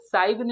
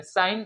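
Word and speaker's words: sign: तो इसे हम लोग साइगन नहीं पढ़ेंगे, साइन पढ़ेंगे। इसे हम लोग डिजाइन पढ़ेंगे।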